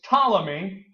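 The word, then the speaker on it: Ptolemy: of Alexander's great generals his name was tmy that's how you say that name tmy silent silent P I guess tmy controls Egypt tmy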